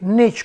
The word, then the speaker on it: Nietzsche: Número tres, Frederick Nietzsche o Frederick Niet, como se pronuncia en alemán.